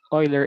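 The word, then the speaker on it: Euler: we call it the oiler equation yeah so some say UL but actually the right pronunciation for this is Oiler equation yeah so e raised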